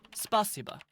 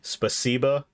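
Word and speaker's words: спасибо: Yeah, so it's the emphasis is on the C, spasiba, not spasiba.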